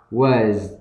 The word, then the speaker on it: was: Mặc dù ở đây chúng ta thấy là nhìn là chữ s nhưng mà khi mà phiên âm thì nó là cái chữ z, thì các bạn nhớ nhá, đừng bỏ qua nó.